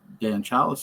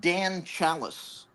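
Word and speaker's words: Dan Challis: You know what Joel just mentioned that Dan Chalice, the name of the uh Tom Atkins character, rhymes with tan fallus.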